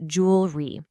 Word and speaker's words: jewelry: It just becomes jewelry. Two syllables, not three.